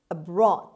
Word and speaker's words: abroad: five abroad abroad abroad as you see the stresses in is on b sound abroad so it's on the second syllable means outside one's country